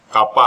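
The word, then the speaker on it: kappa: कापा को मैं बार बार के कह रहा हूं, आप लोग सुविधा के लिए इसको यूज कर सकते हैं, नहीं तो इसका प्रोनाउंसिएशन कापा है जो एक ग्रीक लेटर है।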